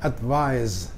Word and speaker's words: advise: Tapi kalau nulisnya pakai S, advise, bacanya pakai Z, itu menasihati.